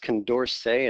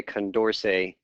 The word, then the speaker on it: Condorcet: So it's actually, I think, pronounced Condorcet. It's a French guy.